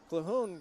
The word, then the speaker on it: Calhoun: Funk comes out and Calhoun comes in as I was corrected during the intermission that I was saying the name wrong Thomas's shot is off clahoon brings the ball down